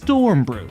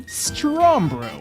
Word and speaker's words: Strombrew: Know how everyone gets my name wrong? I'm not talking about my display name or username, but my YouTube name. Strombrew. It's Stormbrew, right? Look closely. It's actually Strombrew.